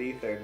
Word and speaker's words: Ether: stuff you got an effort I know it's pronounced ether I will always say a third just for